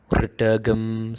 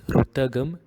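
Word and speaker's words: ऋतं: Ritagam Satyam Param Brahma Purusham Krishna Pingalam. Right? So what many people do is they pronounce this as Rutagam and usually Krishna.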